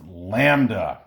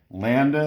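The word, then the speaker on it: λ: special name we call it that which is pronounced lambda lambda in case you looks like a giraffe landed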